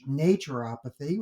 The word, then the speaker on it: naturopathy: So I put in Google a dictionary and just asked, they have a little pronunciation guide and they give naturopathy, which is fine with me, like nature, apathy.